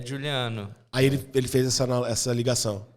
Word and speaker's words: Giuliano: Eu tô aqui com o Juliano. Falei certo? É isso mesmo. Certinho? É Juliano, na verdade. Fala de novo. Juliano. Juliano Eriston. Isso. O Eriston não tem pronúncia, né?